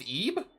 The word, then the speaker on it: Ebe: Oh, it's pronounced Ebe? Not Ib?